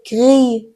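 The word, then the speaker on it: gris: تلفظ نمیشه یعنی گوریل مثل غی غی یعنی خاکستری اس آخرش تلفظ نمیشه اگر ژراه با او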